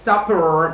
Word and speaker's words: supper: So when we talk about the pronunciation of the first word, supper, my lips, my upper lips touches my lower lips for a fraction of a second.